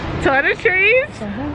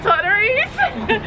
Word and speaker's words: toiletries: some toiletries to what toiletries some totteries how do you say it toiletries toiletries toilet and a tree toiletries oh yeah we're gonna